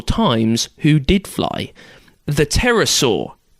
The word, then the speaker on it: pterosaur: who did fly the pterosaur which is confusing to look up online because there's a silent p at the start just thought i'd warn